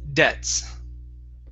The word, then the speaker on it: debts: Right here, the B in the word debts is silent, so we don't say debits, it's debts.